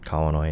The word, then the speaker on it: Kauanoe: So I was named after my grandfather who pronounced it Kaunoa and that's why I say it the way I do.